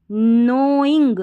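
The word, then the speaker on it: knowing: जजेस सम एस ओ एम E someone someone with without without नोइंग नोइंग आई एन जी नोइंग में के silent है के एन जब भी साथ रहता है तो के साइलेंट रहता है शुरू में इस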